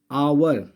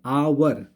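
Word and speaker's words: hour: इसमें आप लोग पढ़ेंगे आवर, ठीक है, आवर। तो यहाँ पर जो प्रोनाउंसिएशन आ रहा है आ का, और मैंने बताया था आ, ठीक है। तो ये आ जो है स्वर है और स्वर के साथ क्या लगाते हैं? एन।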